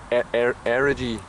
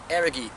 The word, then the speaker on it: Errogie: Errogie. Errogie. Errogie. The hard G.